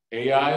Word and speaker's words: Ai: one was what again a i is right people say how do you pronounce that when you say a is literally spelled a and an i but it is pronounced ai second one who can